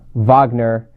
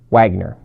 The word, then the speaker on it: Wagner: Now, for those of you who don't know, in Germany, W's are always pronounced with a V, so yes, it is Wagner, not Wagner.